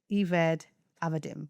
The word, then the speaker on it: Eved Avadim: It's spelled EVED AVADIM. I'm going to try to read this without the phonetics, which is Eved Avadim, because it seems like it. And then it says Eved Avadim. Yeah, I did it right.